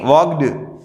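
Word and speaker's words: walked: वॉक नहीं, वॉक्ड। यहां पे एल साइलेंट मोड में है, साइलेंट है।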